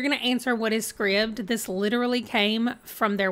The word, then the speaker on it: Scribd: that said Scribd that's why I know it's pronounced Scribd I thought this was kind of cute cool